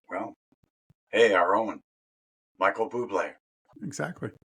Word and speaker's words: Bublé: hey, our own Michael Bublé, exactly. not Michael Bubble. I've had to correct a lot of people on how to pronounce his last name. It's Michael Bublé with the cedilla over the E.